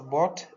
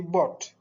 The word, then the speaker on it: bought: Et enfin, he has bought a new house. Donc, il faut faire attention à la prononciation. On prononcera ici bought.